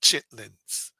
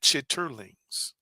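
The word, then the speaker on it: chitterlings: in in our community we call it chitlins. Chitlings in our community. I came home and said chitterurlings. I pronounced it correctly and they laughed at me.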